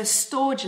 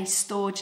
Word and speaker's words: storge: And so storge love, I'm going to spell that for you, S-T-O-R-G-E, is a Greek term.